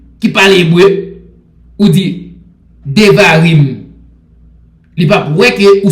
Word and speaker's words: Devarim: Devarim en hébreu, il est écrit D-E-V-A-R-I-M. D-E-V-A-R-I-M. D-E-V-A-R-I-M. Il prononce comme ça, Devarim.